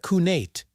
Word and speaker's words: cniht: In Old English, the word was cniht, pronounced roughly like coo-nate.